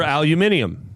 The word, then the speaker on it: aluminum: Now is it aluminum or aluminium? Aluminum. Either or. The way it's spelt would suggest aluminium.